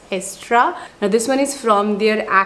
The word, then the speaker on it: Aestura: It's called Estra. Like, this is the correct pronunciation of the brand. Initially I was saying Astura, but it's Estra.